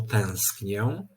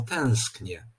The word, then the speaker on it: tęsknię: podczas wypowiadania takiego wyrazu ta samogłoska nosowa traci tę cechę nosowości i po prostu wymawiana musi być jako zwykłe e czyli zamiast mówić tak